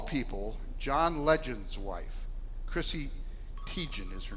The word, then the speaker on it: Teigen: Chrissy Teigen is her name. Teigen, did I say that right? Anybody know? Teigen, I did say it right.